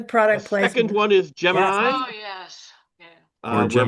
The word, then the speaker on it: Gemini: is NASA's position is it's Gemini.